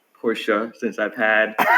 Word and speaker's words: Porsche: correct you on on the pronunciation of porsche is porsha since i've had